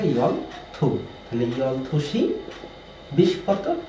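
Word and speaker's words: 열두: এটা 12টা হচ্ছে ইয়ল দু, বাট এটা সঠিক উচ্চারণ হচ্ছে ইয়ল থু।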